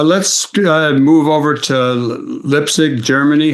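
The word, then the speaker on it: Leipzig: Uh let's uh move over to Lipig Germany. How do is that how you say it? Leipig.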